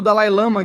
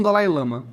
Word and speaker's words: Dalai Lama: estamos falando sobre o Dalil Lama, que eu acho que algumas pessoas pronunciam como Dalai Lama. Acho que essa é tecnicamente a pronúncia correta, mas eu falo americano. Então, vamos com Dal Lama.